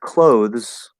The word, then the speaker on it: clothes: So, like, for example, with clothes, this is supposed to be clothes. And if you fully enunciate it, that's how it is. It's with a voiced TH. This word, commonly, we actually just drop the TH and say Z, just like we say the word clothes, which is spelled with